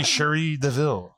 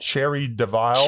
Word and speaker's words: Cherie Deville: But this is the one and only Sheree Deville. Oo, hello. Did I pronounce it correctly?